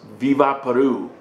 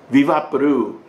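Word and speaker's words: Vick VapoRub: It's pronounced Viva Peru. Viva Peru.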